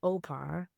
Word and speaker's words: O'pa: So my kid calls me Opa. And so it's spelled O apostrophe P-A, and it stands for other parent.